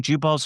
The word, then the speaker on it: Jubal: I think Jubal Early. Am I pronouncing Jubal's first name?